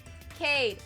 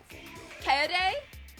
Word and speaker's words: Kaede: Cade, Shuichi, Gonta, Tenko, Kokichi, Rotaro?